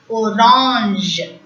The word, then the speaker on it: orange: G is pronounced as J. AN is pronounced as A. Orange.